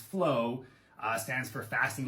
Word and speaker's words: FLOA: So FLOA, pronounced flow, stands for fasting like our ancestors.